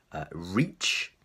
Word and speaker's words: rich: you have money okay so the first one reach you have to make sure your mouth goes this way reach so imagine you have something to pull your mouth and go out like that reach whereas the second one is a rich rich much shorter sound so reach and rich